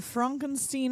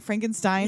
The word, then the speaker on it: Frankenstein: hilarious mascara running down her face and then Frankenstein on the train and yeah the couple has